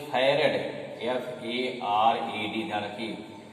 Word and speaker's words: farad: और दूसरी यूनिट क्या होती है, दूसरी बोलते हैं फैरेड, FARAD, ध्यान रखिए, लिखा है फराड, लेकिन पढ़ते क्या है फैरेड, है। फराड नहीं पढ़िएगा, कभी कभी एकदम शुद्ध